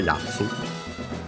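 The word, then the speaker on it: やつ: And then Yatsu accent on the first mora, Yatsu. So high-low.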